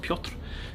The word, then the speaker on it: Piotr: Obviously Peter, I know Peter in Polish is pronounced Piotr.